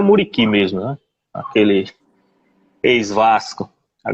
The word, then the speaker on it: Vedat Muriqi: Me ajuda aí na pronúncia, se eu falar errado, o Vedat Muriqi. Muriqui. Assim? Muriqui, é o Muriqui mesmo, né?